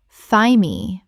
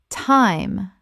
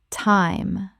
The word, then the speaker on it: thyme: receipt receipt Word 187 time common mispronunciation thigh-me or time Correct pronunciation thyme The th makes a t sound and the e is silent. It rhymes with time.